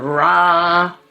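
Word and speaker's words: ram: for your exercise and rah rah is a one syllable Sanskrit mantra Ra breathing in breathing out we'll come up to the heart chakra.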